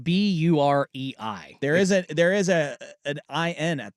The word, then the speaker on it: Bahrain: Bahrain? It's like Burei.